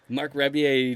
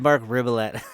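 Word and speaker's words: Marc Rebillet: Mark Rebier. That's how you say his name. Stoner. Yeah. I always said Mark Ribbolette.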